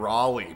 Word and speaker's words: Raleigh: Friends used to call me Raleigh back in the day, pronounced the same as Rally here in Australia.